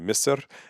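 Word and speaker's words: مصر: And then I'm getting corrections on Masar. Some people saying it should be more of Misr. However, I watched a video about how to pronounce it before I did it, and I'm pretty sure I got it right, and I've had other people say I did it well.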